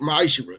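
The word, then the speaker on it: מעשר: Chapter 18, verse 21, and the book of Malachi, chapter 3, verse 8 through 10, means 10th in Hebrew and it's pronounced ma'ashira.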